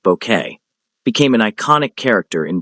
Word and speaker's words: Bucket: Hi, with her obsessive attempts to climb the social ladder and her insistence that her surname be pronounced bouquet became an iconic character in British television history.